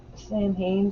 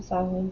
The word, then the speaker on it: Samhain: But that is the Samhain, Samhain, Saden, depending on where you're from. It's pronounced differently.